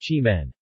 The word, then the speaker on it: Keemun: of the nearby town Keemun pronounced Chi Minh the tea growing region